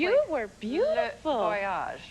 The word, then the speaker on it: Le Voyage: Did I pronounce it correctly? You were beautiful. Le Voyage. Le Voyage.